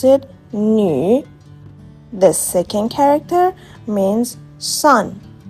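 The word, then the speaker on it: 女: We pronounce it "nü".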